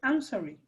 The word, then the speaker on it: answering: it's covered the presentation answering yes answering the phone you know some people have trouble with this w in answering i'm sorry because it's not spoken it's written but you don't speak it and so you don't